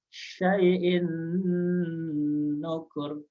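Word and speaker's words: شَيْءٍ نُكُرٍ: Cara membacanya syai'in nukur. Tidak dibaca syai'in nukur, melainkan harus ditahan, ditekan dengan durasi yang lebih lama antara 2 sampai 4 harakat.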